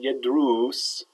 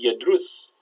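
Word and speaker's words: يدرس: It should be yadrus with a short dhamma, but when you write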